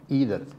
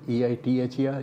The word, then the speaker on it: either: the persons used to say, either, is spelled E-I-T-H-E-R, either. They say you can say it either or either way.